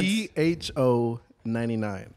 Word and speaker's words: Pho: P-H-O-99. And it's pronounced pho, by the way.